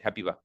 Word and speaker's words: Habiba: Please you tell us how your name is so we can know and pronounce good your name. Go ahead. Habiba.